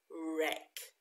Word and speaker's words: wreck: is the shortened version wreck okay now you will notice that there's a at the beginning there we're not going to pronounce that well we don't say wreck wreck but do you remember